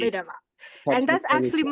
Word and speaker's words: Kvitova: You just tried so hard, and well, you need like to yeah, soften Americans your they always want to stress at least one syllable, like Kvitova, but it's should be Kvitova.